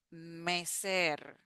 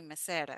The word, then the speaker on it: mecer: Then we have mecer. Mecer. Mecer. And at the end, even though we have one R, we don't say mesera. We say mecer with a double R sound.